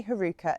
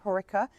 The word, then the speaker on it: Heucheras: Heucheras some people say herukas and some people say Heucheras I'm really sorry if